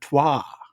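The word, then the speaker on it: trois: see you all at Deja tuah that's how you pronounce it t r o i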